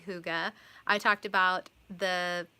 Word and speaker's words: hygge: heart hygge yarn and obviously it looks like Higgy but it's actually hygge I talked about the